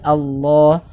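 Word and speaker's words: الله: dalam cara membacanya ya lafadz Allah kadang bisa dibaca tebal atau tafkhim kadang bisa dibaca tapi ya inilah Allah nah itu maksudnya kalau tebal Allah tipis lillahi misalnya nah jadi lafadz Allah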